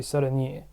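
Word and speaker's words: 사랑해: So we have this saran h. Well, h is not pronounced really, but anyway. So instead of ada, it changes to e. So this would be saranie.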